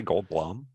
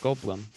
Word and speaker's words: Goldblum: Jeff Goldblum it's Jeff Goldblum how do you say it gold balloon it's you are you it's a lot it's like a long year yeah like the word Blum yeah Jeff wait old